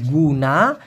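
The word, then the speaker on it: guna: যদিও মালয়েশিয়ান ভাষায় জি ইউ এন এ উচ্চারণটা হবে গুনা।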